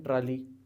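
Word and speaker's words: trolley: पहले के ऊपर पेश, जैसे हम पढ़ते हैं ट्राली, तो we have to pronounce it ट्रॉली, ट्रॉली।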